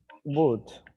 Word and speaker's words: would: we could use the model the model is wood as i said before would wheel is a